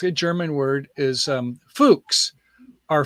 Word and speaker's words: Fuchs: german word is um fuchs are fuchs not what you might think it is it doesn't have a k in it and it sounds close to that dirty word so get over it